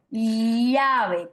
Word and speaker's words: llave: Pero tenemos también, por ejemplo, quienes son yeístas, ¿no? Llave, llave, o quienes no son yeístas. Yo, por ejemplo, pronuncio llave, que es una Y al revés.